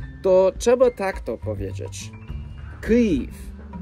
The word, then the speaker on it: Київ: Z początku inwazji rosyjskiej wielu Amerykan przestało wymawiać nazwę stolicy Ukrainy jak Kijew, a preferuje mówić Kijów, bo to jest uważane za poprawną ukraińską wymowę.